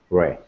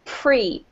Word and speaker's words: pre: In English, it rhymes with free, so it's pre, okay?